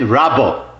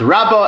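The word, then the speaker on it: רבה: Whenever in the Gemara you see Reish Beis Hey, you read it Rabbo. And usually you're talking about Abay's uncle, Ravba bar Nachmani, Rabbo. When you see Reish Beis Aleph is Rova. And that's how it's pronounced, Rabbo and Rova.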